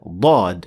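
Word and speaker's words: ض: If you feel that the air is released from the front part of the tongue and not from the sides, then this means that you had been pressing using the front edge of the tongue, which means that you had produced a dal and not Dad, and it will sound like this.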